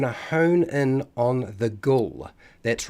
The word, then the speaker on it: Ghoul: hone in on the Ghoul. That's right, Ghoul, or if we look back at some of how the pronunciation had changed over time, it was actually pronounced Ghul, Ghoul.